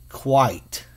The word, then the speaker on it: quite: So we know this is qua, I, t, and the E makes the I long. So qua, I, t, qua, I, t, quite, quite.